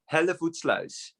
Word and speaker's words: Hellevoetsluis: Hellevoetsluis. Hellevoetsluis. Hellevoetsluis. Almost. Hellevoetsluis.